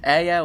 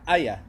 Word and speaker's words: Aya: Aya wants you to say her name. Aya. No, see, you try and stress on the word on the letters. Aya. Yeah, Arabic is a very smooth language.